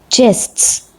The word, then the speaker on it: jests: The next word is jests. Please take care of the pronunciation. Here you have to add s sound at the end. Jests.